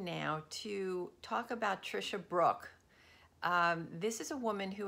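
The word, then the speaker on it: Brouk: even better she's amazing her last name is pronounced Brooke but his B ro UK so feel free to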